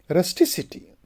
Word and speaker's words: rusticity: to the second syllable the final C of the base becomes s when it Y is added for example we say rusticity so shift is also